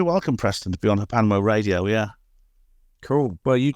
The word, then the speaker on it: HPANWO: It's pronounced Hapanwo, and that's basically my main website.